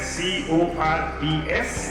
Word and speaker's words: Corps: Though it is spelled as C-O-R-P-S, it is pronounced as Corps.